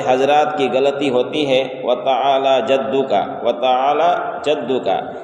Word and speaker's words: وتعالی جدک: کی غلطی ہوتی ہے، وتعالی جدک، وتعالی جدک، یعنی لام میں کھڑا زبر ہے تو کھڑا زبر کو ایک الف کے برابر کھینچ کر پڑھا جاتا ہے، وَتَعَالَى وَتَعَالَى جَدُّكَ، اور